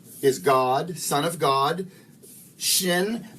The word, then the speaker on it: shin: god son of god shin by the way i was pronouncing this sheen but i'm finding out i was pronouncing well i'm not sure i've heard it both ways but uh since last time i filmed uh shin i think is the preferred pronunciation and that's how we're going to pronounce it so the son of